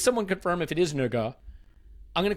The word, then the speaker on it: Nørgaard: Tomorrow, though, over on Patreon, we will have a very special episode about Cristhian Nørgaard, is what I'm reliably told is how you pronounce that. Nørgaard.